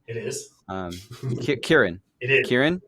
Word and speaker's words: Ciaran: So, the guy on the left, I remember it starts with a K, although I saw on the website it starts with a C, the letter C, but it's a hard C. It is. Ciaran.